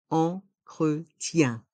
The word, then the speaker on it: entretien: T est mué d'entretien les voyelles I et E avec la lettre N font le son IEN entretien un produit d'entretien un